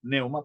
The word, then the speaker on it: pneuma: la palabra espíritu santo la palabra espíritu es neuma con p pero la p no suena como en psicología no se dice psicología sino psicología no se dice pneuma sino neuma pero va con p y